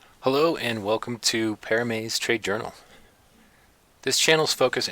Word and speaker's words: Paramay: While many would say Paramay trades or Paramay, the pronunciation is actually Paramay, which is short for Paramaysareh.